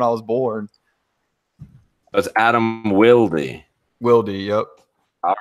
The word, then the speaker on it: Wilde: His name's not Adam Wild?" Yeah, because movie stars and shit just decide that they want to be wild. Like that's not how you say it. They just ignore the E.